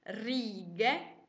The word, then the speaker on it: righe: scritto soltanto già e quindi la parola si legge ridge e non è corretta per scriverla bene sposto legge e aggiungo lacca quindi righe si scrive proprio così andiamo avanti e proviamo